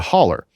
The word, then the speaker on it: hollow: We pronounce it a holler because I grew up on this hill and everybody was related, but you would be, several football fields worth, lengths away from people. So in order to talk, you would yell, you would holler at them because it would echo, right?